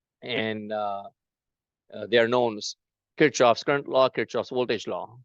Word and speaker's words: Kirchhoff: The way we say this name is Kirchhoff. The actual German pronunciation for this name is Kirchhoff. Kirchhoff.